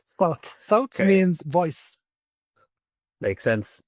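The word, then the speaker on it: صوت: So Sawt, all right? Sawt.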